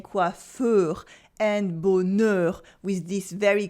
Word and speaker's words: coiffeur: And that's mainly the words ending in EUR. EUR. Then we always pronounce it open like heure. Like le coiffeur, the hairdresser.